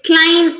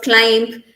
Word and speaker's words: climb: These words here, the B sound here in all these words is silent. So it's climb instead of climb.